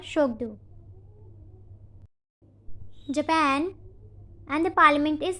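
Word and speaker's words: Tshogdu: And the parliament's name is Shokdu. T is silent here. It is called Shokdu.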